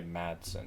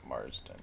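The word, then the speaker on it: Madsen: saying it's pretty so i think we've been saying that name wrong i think it's virginia matson not marsden yeah i said matson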